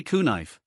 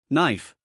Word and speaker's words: knife: The K is silent. We don't say kuh-nife. We simply say knife.